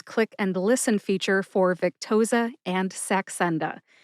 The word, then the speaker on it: Victoza: They are Vic, like Victor, tow, like a tow truck, and za, like pizza. Put all 3 syllables together and you get Victoza. Emphasize Vic.